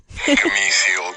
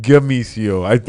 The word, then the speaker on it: Benicio: I said the name wrong. Obviously, I think I said Gamicio. I still said it with a G.